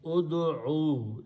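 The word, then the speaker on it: ادعوا: You cannot pronounce two sukoons together. So you throw away one vaw there and you pronounce ud'u.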